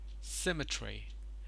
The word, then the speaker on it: symmetry: I probably assume it it has symmetry symmetry the stress is on the first syllable symmetry and in the same